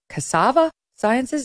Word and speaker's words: Cassava Sciences: to you about a different drug made by Cassava Sciences. Is that how you pronounce it? Correct. Okay. Cassava Sciences.